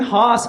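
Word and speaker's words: Haus: at all and then Hass Hass Hass is spelled h aus that's just German for house that's all that is and then grits a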